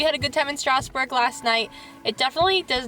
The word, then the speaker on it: Strasbourg: We had a good time in Strasbourg last night.